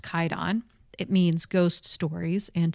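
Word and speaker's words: Kwaidan: It's pronounced Kaidon.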